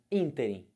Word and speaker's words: ínterim: Ínterim. Ínterim é proparoxítono. Quem é a sílaba forte do ínterim? O in. Esse in aqui, ó. É a sílaba tônica.